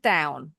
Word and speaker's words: down: Sit down. Sit down. Sit down. Yes. Kurang dikit lagi. Down. Bunyinya out. Down. Yes. Sit down. Sit down. Good. Jadi bunyi O W N bunyinya. Sama kayak warna coklat. Brown.